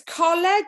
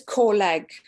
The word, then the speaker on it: Coleg: It's Coleg if you're in Newport. If you're in the Swansea Valleys like I am, it's Coleg, okay?